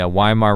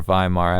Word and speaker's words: Weimar: Now to uh add to this around the uh early 1900s in Germany in the Wim in the Weimar Republic or VHimar as it would be more correctly pronounced.